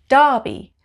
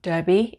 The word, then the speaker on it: Derby: sorry sorry number five it's a town called darby darby not derby it's called darby darby number six this is